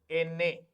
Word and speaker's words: ene: The pronunciation of N is Ene. The pronunciation of N is Ene. Ene.